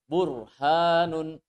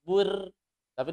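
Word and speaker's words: برهان: arhamarrohimin kemudian yang bomag burhanun Bor jangan baca burnaby dibaca burhanun burhanun ini untuk yang tafsin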